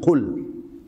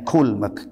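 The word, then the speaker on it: قُل: Fi'il amarnya, kata kerja perintahnya qul. Nah, ini begini ini kalau salah bacanya kul, ka ya. Kul makanlah.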